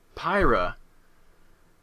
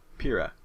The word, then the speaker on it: Pyrrha: Pyrrha. I keep thinking like Pyra because she's like a fiery and pyro, but Pyrrha. I gotta remember Pyrrha.